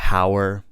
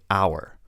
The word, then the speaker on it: hour: We don't say hour. We don't say honest. The H is silent, so we say hour or honest.